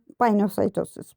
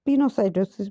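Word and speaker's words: pinocytosis: Types हैं यहाँ पे एंडोसाइटोसिस की, फैगोसाइटोसिस और पाइनोसाइटोसिस। पिनोसाइटोसिस भी इसका प्रोनाउंसिएशन में लेते हैं।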